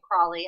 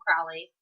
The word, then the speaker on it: Crowley: She calls him Crawley. I call him Crowley.